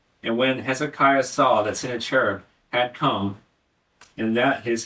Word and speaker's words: Sennacherib: Sennacherib or Sennacherib? Sennacherib. I'll use that. I like that one.